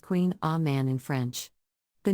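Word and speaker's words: Kouign-amann: variation on a traditional pronunciation Queen Amon is pronounced Queen ah man in French the name can be a bit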